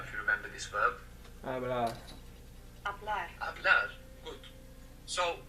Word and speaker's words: hablar: To speak began with a silent H. I don't know if you remember this verb. Hablar.